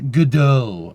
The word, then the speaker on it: Godot: Say it like it's French. Godot, alright.